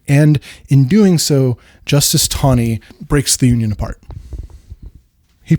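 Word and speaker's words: Taney: In the 1857 DreadScott decision, Justice Tony, it's spelled T A N E Y. It's pronounced Tony like with it as as though it has a W in it.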